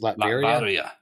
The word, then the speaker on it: Latveria: Latveria.